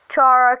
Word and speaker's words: Chara: please do not criticize me for pronouncing her name wrong chara cara cara cara Chara it doesn't matter however